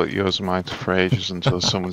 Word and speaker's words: Yosemite: Oh, it is Yosemite, right. Oops. I think Luminar even told me that at some point. I just forgot. Listen, I'm from England. Okay, we have Marmite. I see Yosemite.